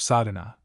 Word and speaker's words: sadhana: A word may be added about the pronouncing of sadhana. The accent falls decisively on the first A, which has the broad sound of the letter I, the relation of the individual to the universe 2.